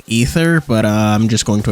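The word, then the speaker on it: Aether: Day called lovers of ather okay actually I'm pretty sure it's pronounced lovers of ether but I'm just going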